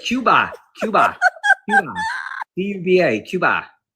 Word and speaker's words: Cuba: But how do you say it that way? Cuba. She said I couldn't roll my R's. I said Cuba. But does Cuba have an R in it? No R in it.